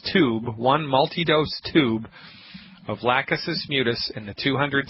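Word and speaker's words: Lachesis: a little peculiar of the word it's called lausus mutus you spell that L Like Larry a c like Charlie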